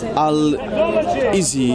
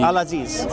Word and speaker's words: Al-Aziz: How do we pronounce that in Arabic? Would you know how to say that? Which one? Al-Izi. Al-Aziz. Yeah, Al-Aziz.